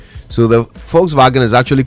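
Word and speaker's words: Volkswagen: right so you see because of the pronunciation in in German the V is actually F so so they call the the folks vagen they call it fou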